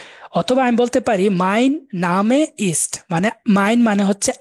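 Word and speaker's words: Name: নামে মানে হচ্ছে নাম এটা ইংরেজিতে আপনারা নেমেই পড়তেছেন বানান কিন্তু সেইম কিন্তু উচ্চারণটা ভিন্ন হয়ে গেছে এটা হচ্ছে নেম ইংরেজিতে আর ডে হচ্ছে এন এটা উচ্চারণ হবে তাহলে নামে নামে এরকম হয়ে যায় আমরা প্রোনাউন্সিয়েশন গুলা দেখব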